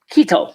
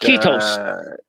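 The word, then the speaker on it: kiitos: Keto. Did Mike bring us some taquitos? Keto is Finnish for thank you. Speaking of taquitos, did you guys see? Actually, it's pronounced Ketos. Ketos. Did you see that Looney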